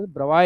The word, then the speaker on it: Bravais: एक लैटिस हमारे सिलेबस में है, that is called ब्रवाई lattice. Spelling BRAVAIS है, लेकिन ब्रवाई बोलते हैं।